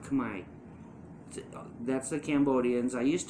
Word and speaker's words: Khmer: And Americans won't understand it because it's spelled Khmer, but it's pronounced Khmer.